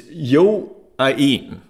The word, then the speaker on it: Yoain: Quick correction on, it's Yoain. It's Yoain. Yoain messaged me. First of all, it's a he, not a she. And Yoain is how you pronounce the name.